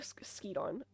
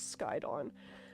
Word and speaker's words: Skydon: Skydon's I keep saying Skeedon. I say Skeedon, but the correct pronunciation is Skydon.